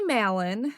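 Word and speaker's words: Mallon: as well cool so Mary Malon I think that's how you say her name it's m a l l o n I'm go maton she's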